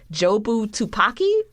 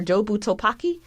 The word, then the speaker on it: Jobu Tupaki: messed up that I don't know how to pronounce her name either. Her name is Jobu Tupaki or Jobu Topaki. Jobu Tabaki. Okay, so Jobu Topaki, because she exists in so many places at